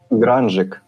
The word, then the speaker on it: Grungik: Okay, I will pronounce it correctly. It's Grungik.